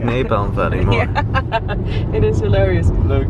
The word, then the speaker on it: Napa Valley: Randomness and I can even can you guys pronounce Napa Valley Napa Valley Napa Valley very good so you can do it but we like Napal Valley more it is hilarious look if the reason